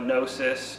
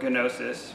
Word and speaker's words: gnosis: attainment of special knowledge they call it gnosis or gnosis when i put in the greek pronunciation of it over faith and